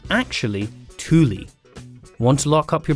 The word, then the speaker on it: Thule: back of your car are they made by thu fully full in fact all of these are wrong it's actually thule want to lock up your bike nice and